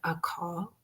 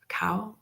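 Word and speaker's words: caul: being born with a a call. Is that is that the right word? Am I pronouncing it correctly? I think it's C A U L. Cow cow where the sack is actually Oh, yes.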